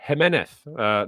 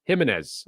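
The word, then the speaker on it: Giménez: um as the Fulham striker of course so jeneth not Jimenez um so let's make sure we got our pronunciations correct on that um proper Med says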